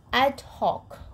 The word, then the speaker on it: ad hoc: Channel first okay now let's take another one ad Hawk okay how to pronounce it this ad hoc okay adhoc which means arranged for a special